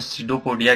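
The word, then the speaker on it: pseudopodia: मैं आपको कभी बताऊंगा, उसकी स्पेलिंग जो होती है वो पी से स्टार्ट होती है, जिसमें पी साइलेंट होता है और एस जो होता है वो प्रोनाउंसिएशन स्टार्ट होता है, सीडोपोडिया।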